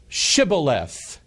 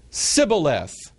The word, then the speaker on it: Shibboleth: And if he said, nay, which means no, then said they unto him, say now, Shibboleth. And he said, Sibboleth, for he could not frame to pronounce it right.